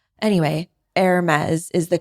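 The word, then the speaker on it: Hermès: He always says Hermes, I think is how he says it. And it's Hermes is the pronunciation there. The French, I can't even pronounce pronunciation. Anyway, Hermes is the correct way to say that.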